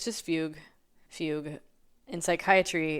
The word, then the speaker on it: Fugue: way Fugu I don't even know how to pronounce that we're going to listen to it it's just Fugue Fugue in Psychiatry it's a state or period